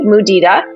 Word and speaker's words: mudita: find most people do not know this word it's spelled m u d i t a muda and it comes from the Sanskrit language and